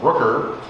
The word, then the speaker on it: Brucker: And what is the role that you play, and how do we get to see the April Brucker, that rhymes with Hooker, I almost got it.